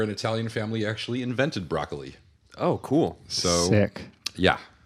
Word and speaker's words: Broccoli: Yes, we've learned that broccoli is actually pronounced broccoli. It's not broccoli Oh, that's or anything else. Albert Broccoli's name is pronounced like the vegetable.